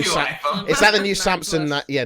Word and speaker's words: Samsung: Samsung. How do you say it? Samsung, isn't it? Samsung. Not like Samson, like George Samson.